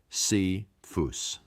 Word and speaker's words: Cephas: Paul refers to Peter by his Aramaic name Cephas, pronounced C-phus.